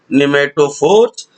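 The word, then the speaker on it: pneumatophores: और नंबर 4 पे हम लोगों ने देखा निमेटोफोर, PNEU, पी साइलेंट है बच्चों, PNEUMATO, nematophores in rhizophora।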